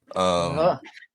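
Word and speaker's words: Bunnahabhain: but is it a Bwfphaven? Right? Is that how you say it? Bwfphaven. Hit that last with a V. Bwfphaven.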